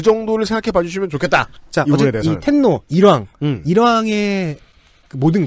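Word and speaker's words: 天皇: 그렇습니다 꽤 오래됐죠이이 전통은네 이거를 그대로 이제 일본식으로 읽으면 텐노가 됩니다 혹자는 덴노 고도 있더군요 네네 어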